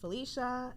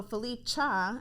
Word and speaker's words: Felicha: tell them all so Philippe cha is how you pronounce it AKA your favorite home